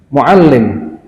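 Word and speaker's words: مُعَلِّم: Kurang memberikan tekanan pada tasdid. Mudarris, muallim, kan ada tasdidnya.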